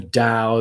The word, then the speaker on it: Tao: from Lao Tzu: "The Tao that can be spoken is not the true Tao." And it's spelled DOW as opposed to DAW, and it was what's her name, the blonde woman.